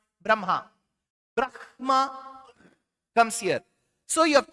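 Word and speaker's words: ब्रह्म: Brahma comes here. So you have to reverse. So in Sanskritam, it is written as ha first, ma later, but pronounced as Brahma.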